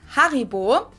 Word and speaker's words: Haribo: everyone knew that haribo is actually german we pronounce it haribo haribo and again the name originates in the